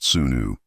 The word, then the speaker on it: Swenu: Known as Swenu, pronounced Sunu, these physician priests wore fine linen, not white coats, and carried scrolls, amulets, and ritual tools instead of modern instruments.